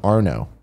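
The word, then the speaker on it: Arnaud: on my stroke game his PSN name is AR na UD one two one eight it's pronounced are no but there's a lot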